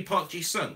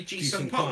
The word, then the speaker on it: Park Ji-sung: it should be Park Ji-sung. Right. But commentators out there will always say Ji-sung Park, which is wrong.